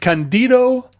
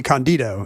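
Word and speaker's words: Cândido: It's Portuguese. If Portuguese is the same as Spanish, that just means you put the accent on the first Candido. syllable. It would not be Candido. It's Candido. You're saying it right.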